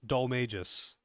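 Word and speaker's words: Dhoulmagus: banana exporter company, and his name is pronounced Dole Magus, but that's not how it's spelled, and that's not the joke.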